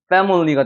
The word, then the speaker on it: family: 여기 같은 경우 여러분 패밀리가 아닙니다. family가 되는 거예요. 물처럼 사운드가 나는 거. family. 왜? 여기에 에 발음이 나고 강세가 적용이 되니까.